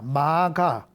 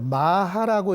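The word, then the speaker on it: 摩訶: 원래 이 글자도 마가입니다. 마가. 그런데 마가라고 읽지 않고 우리는 마하라고 읽습니다.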